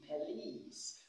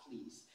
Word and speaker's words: police: The stress of this word comes in the second syllable.